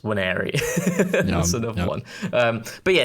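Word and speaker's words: Nwaneri: I'm also quite guilty of saying Wanieri when it's just Waneri.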